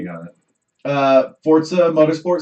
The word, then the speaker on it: Forza: Forza is how you pronounce Where's it.